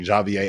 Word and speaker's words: Javier: and assuming that uh Javier which is apparently the way that you pronounce his name I've been pronouncing it wrong all season long Javier I apologize for that